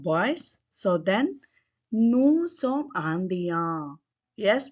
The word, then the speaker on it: Indiens: If it is the group of boys, so then nous sommes Indiens. Yes, we won't pronounce it. You can observe S sound is not there here.